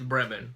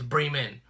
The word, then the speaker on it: Bremen: it's spelled be REM en the way you pronounce that to me is Bremen okay so but I would mess with Nathan I'm like oh we're going to Bremen he's like it's Bremen okay so we were his dad lives in